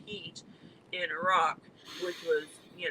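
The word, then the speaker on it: Hit: in a place called heat it's spelled h-i-t but it's pronounced heat in iraq which was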